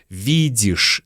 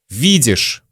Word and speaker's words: видишь: Видишь тоже. Ты видишь, какая погода на улице? Мы произносим видишь как виш.